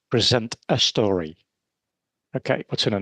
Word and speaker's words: Present a Story: And if you pronounce that quickly, you say Present a Story.